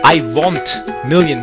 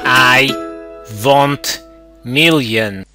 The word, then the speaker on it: Iwontmillion: It is Iwontmillion with an O. Pronounce it in a European style. Iwontmillion.